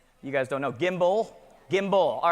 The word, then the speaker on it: gimbal: I think you gave away, was it a gimbo or something up here earlier like that? Did I say it right? A gimbo? Somebody tell me if I'm saying it right. Yes? You guys don't know. Gimbal? Gimbal.